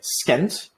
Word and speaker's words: scent: these different things but if you have a c sorry an s c like this SC uh we do not say that the C the C is silent so for example the word sent by itself you don't say sent like scent uh you just say s it makes the s a little bit longer so these words are